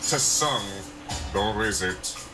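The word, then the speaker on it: Tseng: It is pronounced Tsung, nor is it. By the way, the T is silent.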